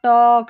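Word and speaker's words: talk: फिर यहाँ पर है एल के में, ठीक है, यहाँ पर जैसे वॉक, टॉक, चौक, ये जो एल के में एल है ना वो साइलेंट है, के नहीं है, ठीक है।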